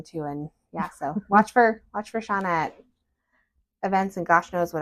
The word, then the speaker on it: Shauna: I expected to, so I always want to say Shana, but it's Shauna. But your energy is always just so fun too, and so watch for Shauna events and gosh knows what else.